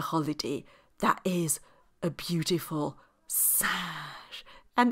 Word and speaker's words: singe: It's a sound that is un, as in the word singe, which means a monkey. It is spelled S-I-N-G-E, a singe. It's the same sound as in the number one, un, but that's spelled U-N.